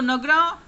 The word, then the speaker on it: Nagara: So Nagara or the North Indian temple architecture. So Nagara style of architecture was found in North India. So Nagar or Nagara, we can pronounce both.